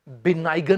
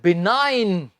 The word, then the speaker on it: benign: तो इसे आपने बिनाइगन नहीं बोलना। जी इसमें स्टूडेंट्स हम नहीं उच्चारेंगे। तो ये है बिनाइन।